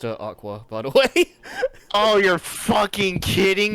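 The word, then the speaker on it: Aqours: to crowds like this by now after all akur had been relatively popular especially after they had won the love live oh it's uh it's pronounced Aqua by the way oh you're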